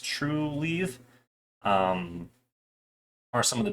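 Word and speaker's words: Trulieve: green thumb um Cura leaf and then it's pronounced true leave um are some of the bigger ones in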